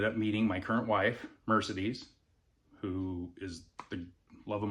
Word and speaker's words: Mercedes: It's spelled like Mercedes, but she pronounce it pronounces it Mercedes. It was her great-g grandandmother's name. It's the Spanish pronunciation.